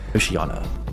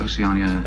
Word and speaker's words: Oceania: Intellectualism, and he doesn't even pronounce the words from 1984 correctly. Oceania. And Oceania. Oceania has... Oceania? Oceania. Oceania. Not Oceania. I don't know how you can miss this.